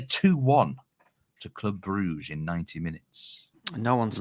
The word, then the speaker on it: Brugge: will what's your bet I keep trying to remember to say Brer but um it just